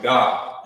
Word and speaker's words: Gad: their name like this Gad but in the ancient Hebrew remember you will pronounce it you will pronounce it God in in the ancient